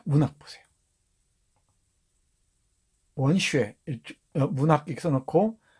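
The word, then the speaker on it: 文学: 원슈에, 문학 이렇게 써놓고 중국어로는 원슈에라고 발음한다 그랬죠?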